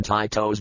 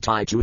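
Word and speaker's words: Taito: go back to when Tito's Bubble Bobble came out yes that's how that company's name is pronounced not taiu as I originally thought it's Tito anyway bubble bottle a pretty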